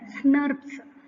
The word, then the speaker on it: snRNP: Often we can pronounce it as SNRPs.